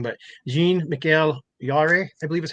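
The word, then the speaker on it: Jean-Michel Jarre: excuse me if I say it wrong, but Jean Miguel Yar, I believe is how you say it. Jean Miguel Jarre.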